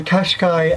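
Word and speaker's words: Cascais: to me by saying it sounded like the make of a car it is a Qashqai the Qashqai I think is how you pronounce it in Portugal quite close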